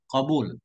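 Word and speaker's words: قبول: Jadi kubul juga boleh. Ya, tapi kubul bukan bermakna lawan dubur, bukan. Kubul bermakna menerima, ada lughatnya. Tapi di sini bacanya qabul.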